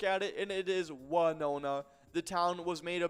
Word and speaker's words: Winona: You look at it, and it is Winona. The town was made a big deal of during the Super Bowl with Winona Ryder filming a commercial there for Squarespace. She and the town pronounced their names differently.